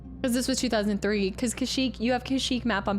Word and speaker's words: Kashyyyk: This was before there was a pronunciation, Kashyyyk officially.